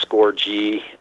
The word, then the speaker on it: Scourgie: Twitter's just score like a goal with a G because that's how my name is pronounced not how it's spelt I'm also on Facebook